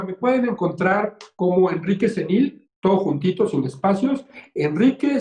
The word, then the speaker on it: Zenil: Mira, me pueden encontrar como Enrique Cenil, todo juntito, sin espacios, Enrique Cenil. Y Cenil se escribe con Z, Z-E-N y latina L, Cenil, Enrique Cenil.